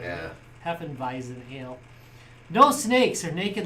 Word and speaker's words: Hefeweizen: right anyways yazu handcrafted Heen wisen air ale uh vison right it's V when it's spelled like that yeah Heen visen ale no snakes or